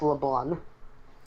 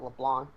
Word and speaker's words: Leblanc: Yes, LeBlanc. Yeah, because that's how it's pronounced. The C is silent. Ah, oh, I just always called it LeBlanc. yeah. The C silent in that.